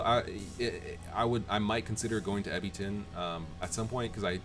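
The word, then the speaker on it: Ebitengine: Let me make sure I'm pronouncing that right. I think it's Ebiton.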